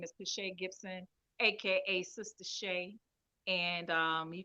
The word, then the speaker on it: Pascha Gibson: But you'll see the link on my page on Pache Gibson as well. And that's spelled Pascha Gibson, Gibson.